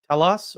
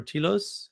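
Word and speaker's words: telos: a loss of of talos or tilos however you want to pronounce it. I pronounce it tilos because I like t and it's not that hard.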